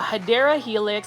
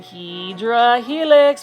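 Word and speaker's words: Hedera helix: HRA helix or a hadera helix I just like calling hedra Helix but the correct way to say it is hadera Helix which is basically an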